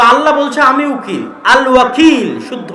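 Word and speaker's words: الوكيل: আল ওয়াকিল। শুদ্ধ উচ্চারণ।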